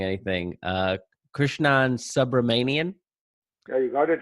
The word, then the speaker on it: Krishnan Subramanian: Today we have with us, and Krishnan, let me know if I'm mispronouncing anything, Krishnan Subramanian.